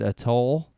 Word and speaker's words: atoll: And while he's there, he's near a deserted atoll. Is that how you pronounce that?